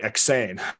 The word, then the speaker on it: EksAyn: It's you say it EksAyn and you spell it EksAyn.